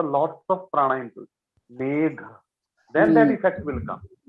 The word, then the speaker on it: मेघ: It's not man. Yes, gha. It's gha. Mahaprana है ये. Okay, Mahaprana means you have to put a lots of prana into it. Megh.